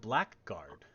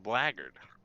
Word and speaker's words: blackguard: It's spelled blackguard. But it's pronounced blackguard.